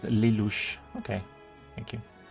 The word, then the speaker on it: Lelouch: It's pronounced Lelouch.